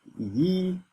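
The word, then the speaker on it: 一: So let's see the last tone rule and it says the character ye remember that this is how you pronounce it ye.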